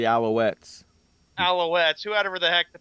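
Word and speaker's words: Alouettes: He says alutes. It's pronounced the Alowettes.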